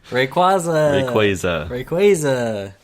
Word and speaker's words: Rayquaza: Rayquaza. Because I pronounce it that way because quasars.